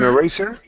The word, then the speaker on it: eraser: Yeah, both of the E's could possibly be schwa sounds, but definitely not the A.